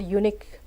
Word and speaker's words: unique: For example, in the word unique, the stress is on second part. U is not stressed, it is unstressed. Unique is stressed, the second part is stressed.